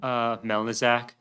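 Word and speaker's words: Melnicżek: Melnizak. Did you want me to spell it?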